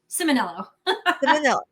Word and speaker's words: Ciminillo: off how do you say your last name simono simel all right perfect uh and then what do